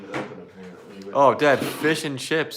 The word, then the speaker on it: Fisch: Dad, it's Fish and Chips, but it's spelled FISCH.